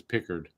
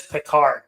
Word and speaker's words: Pickard: I think how it's actually pronounced as Pickard. It is Pickard. Calvin Pickard. Yeah, call him Pickard. It it sounds like he should has an E in his name when it's an A though.